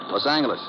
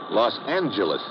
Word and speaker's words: Los Angeles: moved out to california los angeles correction los angeles oh yeah soft g it's official now so i heard chamber